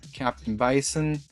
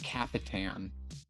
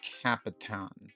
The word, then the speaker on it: Capitan: M303, Catan Settler, Captain Bison. I think you actually say it Capitan. Bison will have to correct me on that if I'm wrong, because Captain is spelled a little different. That's Capitan.